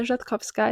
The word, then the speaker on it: Zhuravleva: If you're new here, Zhuravleva is how you pronounce my last name. It is Polish and I create these videos.